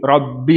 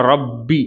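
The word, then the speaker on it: ربي: நம்ம அல்ஹம்துலில்லாஹி ரப்பில் ஆலமீன்னு முதோ சூரத்துல் பாத்திஹா நம்ம ஓதும்பொழுது நம்ம வரக்கூடியது இந்த ரப்பி அப்படிங்கிற வார்த்தைதான். அப்போ அத சரியான உச்சரிப்பை நம்ம கொடுத்து ஓதனும். ரப்பி அப்படின்னு பாவை ஹெவிப்படுத்த கூடாது. நிறுத்தி நிதானமா ஓதுனா இது எளிமைதான்.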